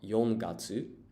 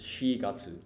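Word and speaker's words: 四月: So there are 2 ways to say 4 in Japanese, right? You have yon and you have shi. And yon you use when counting, and for what I've actually noticed, so for months of the year, you use the one that you wouldn't use for counting. So this is shigatsu, which is April, 4th month of the year.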